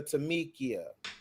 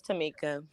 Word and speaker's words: Tamika: But right now, we're gonna get to Tamikia. Tamikia? Hey. Did I say it right, Tamikia? No, it's Tamika.